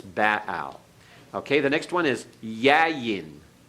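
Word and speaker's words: Baal: azer all right is actually what we pronounce as Bale in our English pronunciation of the title of the Canaanite deity in modern Hebrew it's in the classical Hebrew it's Bao okay the next one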